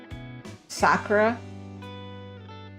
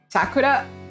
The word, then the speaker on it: Sakura: of my friends when they say Japanese words when speaking English, they say it with like the with a English pronunciation, English accent, and then I'll be like, why'd you say it like that?